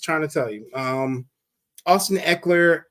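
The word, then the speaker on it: Ekeler: Austin Eckler. Eckler.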